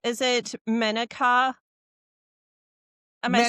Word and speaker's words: Menaka: I wanted to make sure I'm pronouncing your name correctly. Is it Menaka? Am I saying Menaka, that right? Menaka, Iyengar, and Cook is an ex-married name, but that's what it is.